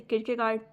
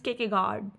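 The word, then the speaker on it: Kierkegaard: एक जैसे कि गार्ड मैं उसको किगार्ड बोलती हूं। But actually the real pronunciation is केके गार्ड। केके गार्ड ठीक है? बीच-बीच के जितने कुछ-कुछ कंसोनेंट्स हैं वो साइलेंट हो जाते हैं।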